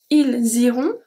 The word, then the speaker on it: ils iront: Ils iront, elles iront. They are pronounced the same since we don't pronounce at the end the S ou the T. And then we have the links.